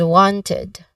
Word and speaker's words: wanted: Some learners might omit the letter T sound here at the end. So ensure it is pronounced as wanted, okay? With clear letter T, okay?